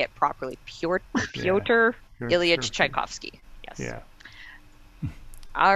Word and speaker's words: Pyotr Ilyich Tchaikovsky: Pyotr Ilyich Tchaikovsky.